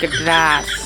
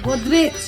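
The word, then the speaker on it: Godrej: দিতে গেড্রাস না কিছু গেড্রাস এটা গেড্রাস নহয় এটা গোদরেজ উচ্চারণ তো হবে না ওইটা ইংলিশে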